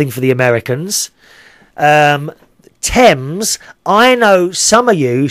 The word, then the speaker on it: Thames: No, it's called the Thames. You don't say the H, okay? So it's the Thames River.